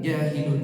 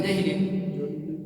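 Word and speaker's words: جاهلون: Fala yatruka illa mutasahilun aulahin ausahin jahilun, ya betul, bukan jahilin.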